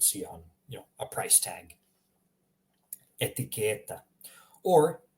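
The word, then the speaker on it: etiketa: Notice how I'm pronouncing the first word here. Etiqueta. The first one is a short E. Second one is a longer E.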